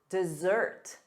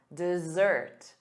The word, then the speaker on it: dessert: And then two S's, sweets, chocolate, dessert, dessert, dessert. The syllable stress is on the second syllable, da-da, dessert.